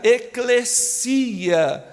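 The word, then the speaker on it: ἐκκλησία: aparece no Novo Testamento a palavra igreja no grego se pronuncia eclecia que significa chamado para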